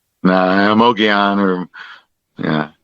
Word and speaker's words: Mogollon: No, Mogollon Rim. Yeah. Cuz the L is kind of silent.